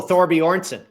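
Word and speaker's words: Thorbjørn: Vegas and I have uh how do you pronounce his kid's name again uh Michael oh Thor Boron Thor Boron okay so I Thor Boron on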